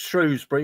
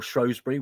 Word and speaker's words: Shrewsbury: Well, Sutton United are at home against Shrewsbury, or Shrewsbury, whichever way you want to pronounce it.